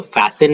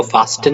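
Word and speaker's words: fasten: तो फैसन is also बांधना, टाई is also बांधना, तो इसको फास्टन नहीं बोलेंगे, फासन बोलेंगे, राइट?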